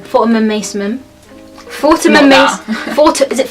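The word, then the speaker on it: Fortnum & Mason: tried it in Fortnum, how do you say it? Fortnum Mason. Fortnum and Mason. Fortnum and Mason. Is it Fortun?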